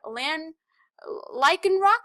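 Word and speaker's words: Lycanroc: fantastic um this here I'm probably going to pronounce this rock wrong but it's a l lyan Rock I believe is how you say it but it's like this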